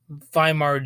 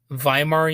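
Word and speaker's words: Weimar: music director in W viar Germany which is known as the viar years I believe it's pronounced V when you have a German W and anyway during this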